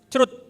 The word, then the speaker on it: chroot: Oke, tahun 79 Bill Joy, pendiri Sun Microsystem yang bikin Solaris, dia bikin Chroot. Jadi itu bacanya bukan C-H-R-O-O-T ya. Bacanya literally Chroot, bukan C-R-U-D, Chroot pakai Chroot. Itu.